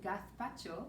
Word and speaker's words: gazpacho: hola i'm elena and i'm going to read gath pacho for nacho and the reason i say a